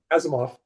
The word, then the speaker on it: Asimov: Asimov. Yeah, hey, I never did pronounce it correctly.